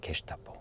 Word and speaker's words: 게슈타포: 그런데 프랑스어에서는 G를 제라고 발음하니까 제스타포이지만 독일어에서는 G를 게로 발음하니까 게스타포라는 단어가 된 거죠. 게스타포. 나치 친이 되잖아요. 게슈타포.